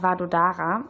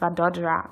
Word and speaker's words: Vadodara: Gujarat, in der Stadt Vadodara, oder zumindest dachte ich, dass die Stadt so heißt. Ich wurde jedoch direkt am Flughafen in Delhi aufgeklärt, dass es Vadodara ausgesprochen wird.